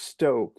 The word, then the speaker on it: Stocke: life and it's spelled it's pronounced Stoke but it's it's spelled St o c ke and so a lot